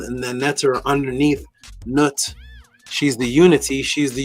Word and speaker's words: Nut: The way you pronounce it is Nut, or Nu, or Nut.